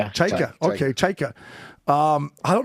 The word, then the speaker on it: Chayka: I will say this about How do you say his last name, Chechkin? Is that how you say it, Johnny Chechkin? I say I call him Cheika. Cheika.